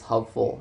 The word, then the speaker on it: hopeful: First, for the word of stress preserving suffixes is hopeful. The word hopeful is an example of a stress preserving. In the base word hope, the stress naturally falls on the only syllable.